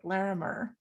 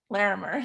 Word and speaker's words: Larimer: section and the laramie i don't know if i pronounce it larimer larimer there we go county young lawyers association